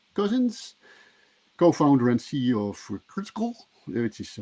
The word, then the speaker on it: krtkl: co-founder and ceo for critical which is hard to pronounce but apparently you should pronounce it as critical um he's from san